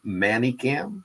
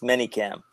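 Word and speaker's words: ManyCam: to something I heard the other night called manic cam yes uh manyam people people don't pronounce it correctly it's manyam Cam and why is this not working I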